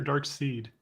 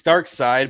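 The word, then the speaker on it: Darkseid: love the dark sea is it dark side or dark seed it's it's dark side but it's spelled seed yeah yeah all right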